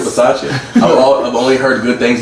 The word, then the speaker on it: Bisaccia: I just hope that we can keep it pushing with Rich Bisaccia. I think that's how you. Bisaccia. I think that's how you pronounce his name, Bisaccia.